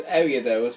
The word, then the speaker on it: Ariados: I say it as Ariados sometimes, and sometimes Ariados, but it's actually Ariados.